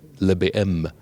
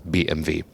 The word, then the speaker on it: BMW: there's someone just say le baem because bmw v would be a little bit too long so the bm it is and in germany of course bmv the original pronunciation so and bmv design